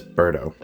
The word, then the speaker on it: Berto: actually made it a little bird because everyone pronounces my name ber Toe with a hard T it's actually pronounced Berto